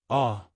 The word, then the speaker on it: AAAH: filter changing instructions for aaah pronounced ah water alkaline system important